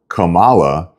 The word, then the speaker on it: Kamala: name so instead of how it would be pronounced like the flower Kamala they decided to change